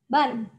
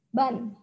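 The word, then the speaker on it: 반: Ini bacanya adalah ban. Dibaca ban.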